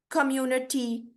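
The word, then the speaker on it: community: quickly और slowly और word ट एंड इन आईटी वाई ठीक है उसमें जो है वो ई की तरह प्रोनाउंस होता है कम्युनिटी टी ठीक है कम्युनिटी आई नहीं आएगा यानी कम्युनिटी नहीं आ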